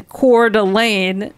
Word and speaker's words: Coeur d'Alene: And we stopped in Coeur d'Alene. That's how you pronounce it here, Idaho.